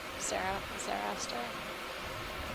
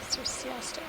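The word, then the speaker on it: Circeaster: Another one of those Cerastor. Cerciaster. Cerciaster. I'll add a little syllable in there. Cerciaster.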